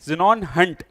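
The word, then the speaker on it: Xenon Hunt: Spelling है XENON, ज़ेनॉन हंट, HUNT, XENON, ठीक है।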